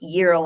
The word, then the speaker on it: euro: But you say euro like in money when it's EUR, but then euro in a sandwich with GYRO for Greek. So we'll find out.